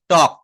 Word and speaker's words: talk: যেমন আমি যদি এখানে একটা শব্দ লিখি, এখানে আমি একটা শব্দ লিখলাম, মনে করেন TALK, টক। এটা কি টল্ক বলি? বলি না। এটা এলটা হচ্ছে সাইলেন্ট লেটার।